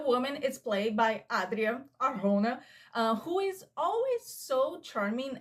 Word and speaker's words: Arjona: But this movie stars Glenn Powell, our new movie star, and Adria Arjona. I see a lot of people pronouncing her name Arjona, but I think it's